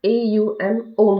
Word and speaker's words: ओम: तो वो ओम नहीं होता है, AUM ओम होता है। तो उ और म, उ और म, दो स्वर और एक व्यंजन मिलके हमें ये ओम का प्रोनाउंसिएशन करना होता है।